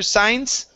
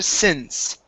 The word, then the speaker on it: since: take a look here so instead of ever or ever signs this is ever since ever since she was